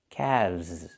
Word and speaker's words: calves: The L is silent and we pronounce the V sound with vibration plus the Z sound like zebra together. Calves.